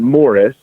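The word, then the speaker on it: Maurice: Samantha's father was, he pronounced it Morris, but his character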